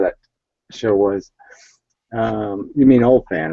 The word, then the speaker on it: Oldphan: It's Old Fan. It's spelled with a P, so it's OLDPHAN.